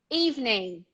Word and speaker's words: evening: exist so you say hang hang hang hang evening evening evening is easy know even a young